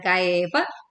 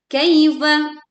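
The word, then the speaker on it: كَيْفَ: Selanjutnya kita membaca kaifa dengan pelan. Kaifa. Bukan kaifa tapi kaifa.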